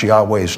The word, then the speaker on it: Yahweh: And if you ever just pronounce it, Yahweh, notice your tongue doesn't touch the roof of your mouth or the teeth or anything. There's no obstruction. It's just pure air.